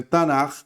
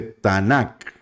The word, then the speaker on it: Tanakh: ustedes han notado que en algunos casos no se dice Tanaj, sino que se dice Tanak. Es por el tema de la tradición que les mencionaba anteriormente. Algunos lo ponen con la Kaf Sofit, entonces sería Tanakh.